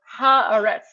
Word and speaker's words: Haaretz: It's pronounced harets.